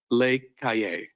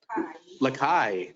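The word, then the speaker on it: Les Cayes: through our sister city, Lake Cayenne. I'm not sure if I'm pronouncing that correctly, but I'm sure someone will correct me. That was good? All right. Lakai, there we go.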